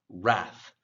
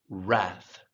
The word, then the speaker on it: wrath: th at the end wrath wrath say it with me wrath now the english w r is pronounced very similar to a normal r r it's not quite